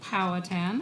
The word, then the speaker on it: Powhatan: And here we have one at 6153, I've been told it's pronounced Powhatan Avenue.